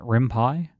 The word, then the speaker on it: RimPy: Is it rimpai or rimpy? How do you pronounce it? Rimpai.